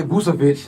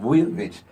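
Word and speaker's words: Vučević: Shaq say Vucevic. Yeah, a lot of from his country, they be like Vucevic. That C is kind of silent.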